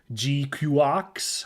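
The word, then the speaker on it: GQuuuuuuX: GQX, I think, is how they I'm trying to pay attention to how they pronounce it, and I think that's how it is. Of course, the ridiculous spelling of it, which is G, Q, six letter U's, and X, makes me want to pronounce it the Gundam GQ, but no one actually calls it that in the show.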